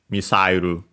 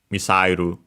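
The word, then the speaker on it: ミサイル: The accent is on the sa, and yeah, so actually like in English, misairu, missile, misairu.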